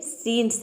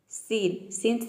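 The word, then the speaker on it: scene: ये सीन्स है, सीन, सीन्स नहीं, ये सीन है। सीन का मतलब होता है दृश्य।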